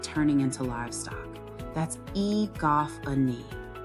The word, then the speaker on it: egophony: Pronunciation. Egophony.